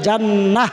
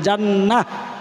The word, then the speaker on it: জান্নাহ: আসআলুকা রিদাকা ওয়াল জান্নাহ, জান্নাতু লেখা আছে, জান্নাহ থামলে শেষের হরফ গোলতা হা উচ্চারণ হয়ে যাবে, সাকিন হবে, এটাকে বলে তাসবিদ। এই তাসবিদ জানতে হয় আলেম হইতে হইলে। তো আপনাদের জানাই দিলাম, জান্নাহ বলবেন, জান্নাহ হা উচ্চারণ করবেন।